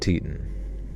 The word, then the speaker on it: Teton: Its screen said Grand Teton. All right, check that real quick. Pronunci I need like a team pronunciation check quick. Like sir, we're getting back. Titan like tits. Teton. Grand Teton.